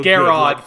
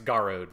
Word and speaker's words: Garrod: you're talking about it's garud like it's just it's not how you pronounce the spelling but it's just how they say it yeah no it's it's